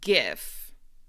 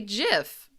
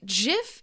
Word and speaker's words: GIF: Because in English, this letter, the letter G, can be pronounced two different ways. So I say GIF. That's what I say. But some people say GIF.